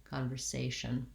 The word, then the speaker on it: conversation: that like say satia conversation practicing trying to make sure that it stays an s rather than a z sound and then lastly the